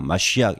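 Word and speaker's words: מָשִׁיחַ: 마시악 이렇게 발음하는데 뭐 다 여기 들 수가 없어요.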